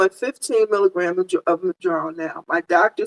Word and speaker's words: Mounjaro: So I've been saying Moon for so long. Candy K, once she got on Zepbound, helped us to pronounce, for those of us who were pronouncing it wrong, straightened us out by saying Mounjaro.